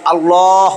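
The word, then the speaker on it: الله: আবার কিছু দেখা যায় আমরা আল্লাহ উচ্চারণ করি আবার আল্লাহ উচ্চারণ করি ভুল হয় নাইলে কোন সময় হবে আল্লাহ এরকম হবে আল্লাহ আর কোন সময় হবে এরকম আল্লাহ এই আল্লাহ মানে এটা পাতলা হইতেছে এটা মোটা আল্লাহ এখন ইংলিশ কিছু কোরআন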